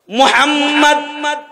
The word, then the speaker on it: মুহাম্মদ: মুহাম্মদ মুহাম্মদ এমন একটা নাম যে নাম উচ্চারণ করতে যাও দুইবার চুমা খাইতে হয়। মুহাম্মদ ঠোঁট দুইবার মিলে।